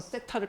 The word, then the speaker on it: 세타: 4세타에서 세타를 빼버리면 아 미안하다. 이거 읽는 방법 안 알려드렸죠. 세타. 그냥 우리가 발음할 때 그냥 이렇게 읽으시면 돼요.